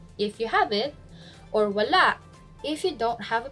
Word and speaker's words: wala: is it means nothing voila the stress is on the last syllable voila examples if somebody asks